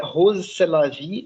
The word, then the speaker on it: Rrose Sélavy: rose c'est la vie ça se prononce comme c'est la vie en français et en fait vous